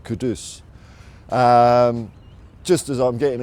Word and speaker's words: Kudus: I mean or I think Ali Gold said his name is pronounced Kadus. So I'll try and get that right. Kadus.